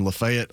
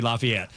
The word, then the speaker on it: LaFayette: I love the fact you said it right. Yeah. Yeah. Because a lot a lot of people you know that that are from metro Atlanta would say Lafayette growing up up there